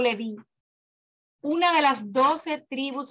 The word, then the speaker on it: Leví: El mismo le es dado el nombre de la tribu de Leví, pronunciado Leví, una de las 12 tribus originales de Israel, los cuales fueron formados, separados para el servicio sagrado de Hashem.